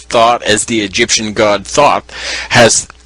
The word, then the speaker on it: Thoth: Thought is the Egyptian god Thoth, the creator of almost every activity known to man.